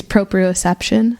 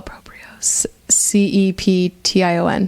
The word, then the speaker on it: proprioception: yoga class and heard this word which is proprioception it's the ability big word cut to the